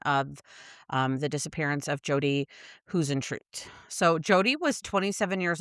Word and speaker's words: Huisentruit: Huisentruit was how she pronounced it, so that's how I'm going to pronounce it. I Okay. know how Hausentrout was some ways, or who's it. Her phonetic saying was Huisentruit.